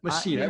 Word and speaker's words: Machina: By the way, it's the Tao of Selling and then Sales Ex Machina. You're close, man. Machina. Like I said, I'm from Arkansas. My mom says we don't know how to pronounce names down there.